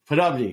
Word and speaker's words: Poddubny: So, Podubny, there we go.